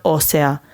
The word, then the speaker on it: ósea: Voy a hacer una prueba para medir la densidad ósea. En este caso, ósea se presenta con una pronunciación distinta respecto a las demás formas y por eso se escribe con la tilde en la o.